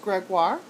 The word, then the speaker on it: Gregoire: couple of your questions, my last name is pronounced Gregoire. Don't worry about getting it wrong. Everyone does. It's no big deal. It's a French name, so it's not quite pronounced the way it doesn't.